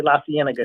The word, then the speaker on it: La Cienega: Also, when people come out here, man, there's certain streets that they can't pronounce. Like they cannot say La Cienega.